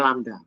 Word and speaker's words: lambda: semua nilai lamda nilai lambda ini bacanya lambda sehingga matriks matriks ini